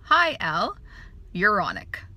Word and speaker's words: hyaluronic: Hyal, so like the guy Al, hyaluronic. So it's just like that, hyaluronic.